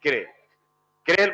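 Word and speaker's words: chiral: अगर एग्जजेक्टली प्रोनाउंस करो तो इनको किल कहते हैं। क्या कहते हैं? क्रेल। मॉलिक्यूल्स। लेकिन चलता क्या है? कायरल। तो इनको हम क्या बोलते हैं? कायरल मॉलिक्यूल्स बोलते हैं।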